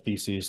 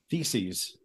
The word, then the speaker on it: Theses: door of whittenberg church you should really pronounce that word clearly that you're saying which which one 95 what Theses okay T hes and it was it was largely about the plural of thesis right exactly it sounds